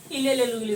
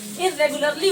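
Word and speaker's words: irregularly: कुछ बच्चे इलेलुगली पता नहीं क्या क्या बोल जाते हैं, प्रोनाउंसिएशन नहीं कर पाते। इरेगुलरली होता है बेटा, अनियमित।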